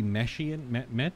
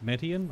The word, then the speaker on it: Metian: Could be Meshian. No, it's Metian.